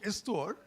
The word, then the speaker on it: histoire: One little point about history and story is the same word, especially in French, where the word begins with H, histoire, pronounced histoire, and story.